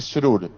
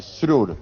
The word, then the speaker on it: Srur: contar muy corta historia mi apellido se dice srur apoyate en la s después la r surur me cuesta pero Víctor